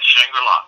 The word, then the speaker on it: Shangri-La: The House of Shangri-La, am I saying it right? Yes, Shangri-La.